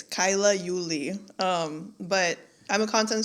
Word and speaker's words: Kaila Uli: It's Kyla Uli.